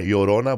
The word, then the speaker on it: Llorona: It's like spelled like with a Y. Yorona, but it's I say L L O R N.